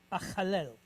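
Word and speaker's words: אחלל: So we double it. So we're going to make an L sound on the end of the previous syllable. So chal. Then we're going to pick up the second lamed, the tzere, which is a long duration E-type vowel, and then the second L here. So lel. So we have achalel.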